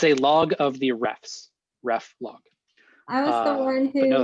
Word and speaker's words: reflog: i'd probably throw git reflog uh reflog i love that pronunciation the ref log yes sorry i'm canadian